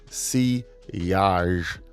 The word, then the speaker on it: sillage: Now, sillage, pronounced sillage, is a French word for the wake of a ship in the water.